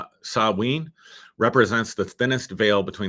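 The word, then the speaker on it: Samhain: somebody uh points out that they say it's pronounced Sabine so I'll take your word for it um I think some people say Tom Hayne um pronounce Sabine represents the thinnest Veil between the spiritual and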